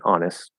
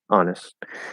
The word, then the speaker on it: honest: because as i said we'll commonly drop the t and the st ending honest honest you can maybe do